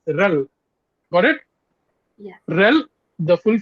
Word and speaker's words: RHEL: hat enterprise linux or we can say rel rel rhd rel okay we can pronounce that as rel got it rel the